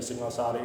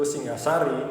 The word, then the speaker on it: Singasari: Nah, kita itu mengambil akarnya dari Singosari yang pelafalannya dalam bahasa jawanya menjadi Singosari ini di ee Sanskrit aslinya itu Singasari.